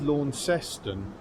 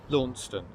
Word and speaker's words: Launceston: I must say it is pronounced Launceston, even though it is named after the Cornish town which pronounces it Launceston.